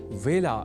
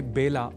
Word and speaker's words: वेला: ही चुके हैं कि व का कई बार ब के रूप में उच्चारण करना अशुद्ध होता है। अतः ए अक्षर से जुड़े वेला इस शब्द के उच्चारण में भी विशेष ध्यान रखा जाना चाहिए, अर्थात इसे बेला नहीं बोला जाना चाहिए।